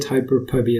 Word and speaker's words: Hyperpubee: I'm pronouncing it Hyperpubee as All well right. in my publication.